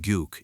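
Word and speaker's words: gök: The old Turk word kuk pronounced guke in modern Turkish due to a sound shift means blue or sky.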